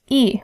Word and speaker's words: y: The Y in the sentence is pronounced e, which also means and.